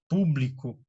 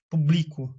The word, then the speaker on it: público: Os monossílabos, desculpa, paroxítonas, palavras cuja sílaba tônica é a antepenúltima, lâmina, público, paralelepípedo, certo? Você não fala lamina, nem laminar, né? publico, nem publicó, certo?